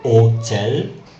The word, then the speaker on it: hôtel: And the weird thing about H is it's often completely silent in French. Example, the word pronounced and hôtel, hôtel.